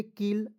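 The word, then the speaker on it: kill: एल वल के I double L क्या पढ़ेंगे किल आई एन के क्या पढ़ेंगे इंक के आई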